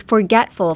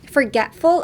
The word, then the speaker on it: forgetful: And next, last is forgetful. Forgetful. Forgetful, again, drop the T from forget.